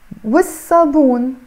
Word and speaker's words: والصابون: So I'm not pronouncing the lam here, okay?